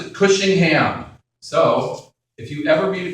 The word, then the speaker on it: Cushingham: And they said, well, in New York City, we pronounce it Cushingham.